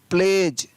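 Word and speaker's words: pledge: PLEDG, प्लेज, PLEDG, प्लेज।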